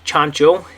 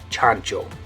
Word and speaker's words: chancho: chancho or something like that anyway in Spanish chancho and what this means in English is pig